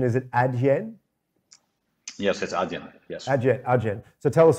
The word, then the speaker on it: Adyen: it your company uh just to get the pronunciation is it ad yen yes yes so tell us about what you're